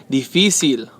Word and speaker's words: difícil: Okay? Difícil. Otra vez, difícil. Okay? Because it ends with an L, it should be right here on the last syllable. Pero no es, it's on the segundo.